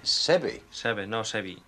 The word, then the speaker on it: Seve: say five years i was gonna say it sevi is always easy for us but it's seven sebi so can you tell it properly for all